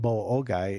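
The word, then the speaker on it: Boa Ogoi: And what Boa-Ogai is, Big River.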